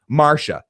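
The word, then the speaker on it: Marcia: I'm like Marsha, but it's spelled weird. It's not. It's oh no, it's spelled right. But it's not spelled with the SH. It's spelled with CIA.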